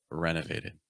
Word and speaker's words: renovated: Be careful with renovated. A lot of syllables there, right? It's like renovated. So it's just kind of da, da, da, da. It just goes down, down, down, down.